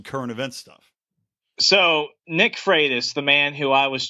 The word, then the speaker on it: Freitas: American Statesman the Nick fright house story am I saying that name right it's pronounced freitas like frito Freitas Great Train like